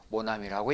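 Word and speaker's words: mon ami: 프랑스어에는 여는 규칙이 있어서 처음 하고 몸이 왔을 때는 점과 몸을 같이 붙여서 한 음으로 발음한다 그래서 모나미라고 읽는다 이렇게 하시면 되겠어요 자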